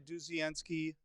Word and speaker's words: Dudzienski: So we should talk a little bit about, okay, so everybody should go over, and I've got the link down below, Dudzienski.